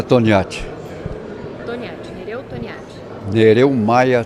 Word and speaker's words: Toniati: Meu nome é Toniati. Toniati. Nereu Toniati. Nereu Maia Toniati. Como se escreve Toniati?